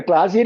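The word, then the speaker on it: قلم: ഭാഷ പറയുമ്പോൾ പാലിച്ചില്ലെങ്കിൽ കുഴപ്പമില്ല കലം എന്നുള്ളത് ഗലം എന്ന് പറയാം അലം എന്ന് പറയാം കലം എന്നത് ഒറിജിനൽ ഉച്ചാരണമാണ് ഗലം എന്ന് സൗദികൾ പറയും അലം എന്ന് ഈജിപ്റ്റ് ആയിട്ട് പറയും അതിലൊന്നും കുഴപ്പമില്ല പക്ഷേ തജ്വീൽ വരുമ്പോൾ ഫുൾ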